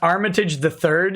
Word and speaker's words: Armitage III: it together from oh that's too bad it's pronounced armitage the third you pleb cody oh it does say the